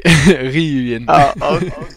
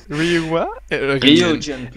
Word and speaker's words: rYuuJiN: I say it in the Dutch way. rYuuJiN. rYuuJiN.